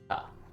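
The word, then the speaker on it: か: So this one doesn't have any funny pronunciation. Pronounced ka.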